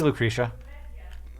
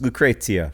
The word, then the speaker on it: Lucrezia: so bad at names Lucretia what is it look about you Oh rosianna just pronounced it correctly it's Lucrezia Lou crazy yeah I mean Rosie